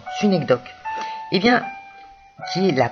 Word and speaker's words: synecdoque: Ou encore, le fameux système, les cas où l'on trouve une synecdoque, qui vient du grec, qui s'écrit, qui se prononce de la même façon, synecdoque.